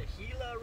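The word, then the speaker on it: Gila: up here in a the hila River you don't pronounce the GG I don't know maybe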